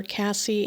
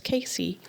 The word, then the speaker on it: Casey: They were calling her Cassie, and she wasn't answering because Cassie's not her name, it's Casey. And y'all, still to this day, her name is mispronounced by everyone.